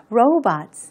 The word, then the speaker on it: robots: 하거든요 그래서 우리말로는 로봇이라고 하는데 b o 부분을를로 발음을 해서 robots 이렇게 되겠죠 강세는 이름 절에 들어갑니다 reality 현실이라는